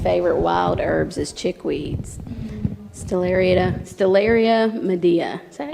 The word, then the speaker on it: Stellaria media: Stellaria medea.